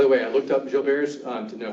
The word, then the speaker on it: Gilbert: way I looked up Jill Bears to know how to pronounce it because I've heard people say Gilbert's and I've heard people say other things and it's from a French dude so it's Gilbert so